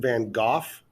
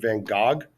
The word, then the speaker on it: Van Gogh: go or gosh but we in America tend to go with Vincent Van Go all right so uh